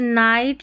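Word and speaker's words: night: देखिए GH silent कई शब्दों में GH साइलेंट रहता है, जैसे नाइट, लाइट, हाई, राइट, फाइट। तो यहाँ पर इन स्पेलिंग्स में जब GH आता है ना, ये साइलेंट रहता है, पढ़ा ही नहीं जाता, पढ़ते ही नहीं है इसको, ठीक है।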